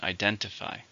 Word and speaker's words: identify: How many syllables are in identify? 4, stress in the second.